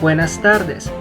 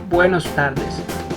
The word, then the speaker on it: buenas tardes: Lo correcto es decir buenas tardes, no buenos tardes.